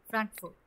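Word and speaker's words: Frankfurt: ফ্র্যাঙ্ক না, ফ্রাঙ্কফুর্ট।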